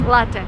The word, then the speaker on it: latte: And don't say latte. This is like the worst thing I've ever heard. It's latte. Latte is an Italian word. So, if you drink coffee, it's latte, not latte.